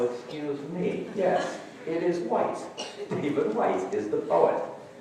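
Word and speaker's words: Whyte: the early service this morning so I will pronounce his name properly it's w-h-y-t-e and no it isn't whitening it's not witty oh Excuse me yes it is white David White is the poet so those of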